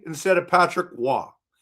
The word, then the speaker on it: Roy: He butchered names. Like, Patrick Roy instead of Patrick Wah.